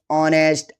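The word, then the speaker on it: honest: और यदि एच के बाद ओ आता है तो एच साइलेंट होता है। जैसे घोस्ट, ऑनेस्ट, आवर।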